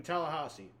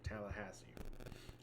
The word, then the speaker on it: Tallahassee: the sunshine showdown in Tallahasse Tallahassee that's how you pronounce that right Tallahassee I butchered it the first one one second sorry KCK